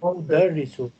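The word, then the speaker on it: أدرّس: I study mean adrusu. This is udarisu. Different pronunciation.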